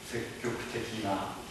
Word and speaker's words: 積極的な: 조사 부분까지도 국사적이니 국사적이나積極的に積極的な. 그런데 이것은 이제 이론적으로 알고는 있는데 이해는 했지만 실제로 그렇게 발음하는 것은 결코 쉽진 않습니다.